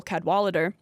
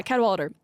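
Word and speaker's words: Cadwalladr: Like, for an example given by a journalist who we'll talk a little bit more about later, Carol Cadwalader. Cadwalader, how do you spell it?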